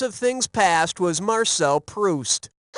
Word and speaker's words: Proust: The Frenchman who wrote Remembrance of Things Past was Marcel Proust. As in, when I'm juiced and need a boost to get goosed, I read Proust.